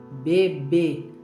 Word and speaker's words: bebê: Então, quando tem o acento circunflexo, esta sílaba ela fica forte, fechada.